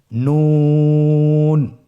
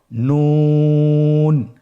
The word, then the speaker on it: নুন: নুন হরফটি উচ্চারণের ক্ষেত্রে অবশ্যই পাতলা করে উচ্চারণ করতে হবে এবং তিন আলিফ টেনে পড়তে হবে। আপনারা আমার সাথে বলুন নুন। আরেকবার চেষ্টা করুন নুন।